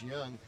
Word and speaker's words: Jung: they're they're third baseman young it's spelled Jung j-u-n-g but it's pronounced young uh man this guy